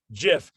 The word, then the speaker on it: GIF: that we've been mispronouncing gif for 25 years and it's actually supposed to be pronounced jif it's really hard to